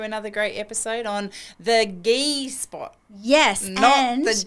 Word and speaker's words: GI: to get through another great episode on the ghee spot. Yes, the G spot. Definitely not the G-spot. We we spell it GI and it's pronounced G like what we wear when we do jiu-jitsu.